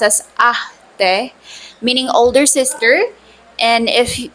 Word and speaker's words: ate: You can refer to them as ate, pronounced as ate, meaning older sister.